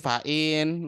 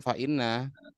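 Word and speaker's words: فإن: Ini fa'in, Mbak, bukan fa'inna.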